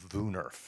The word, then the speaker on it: woonerf: It's a WOONERF, pronounced VUNERF.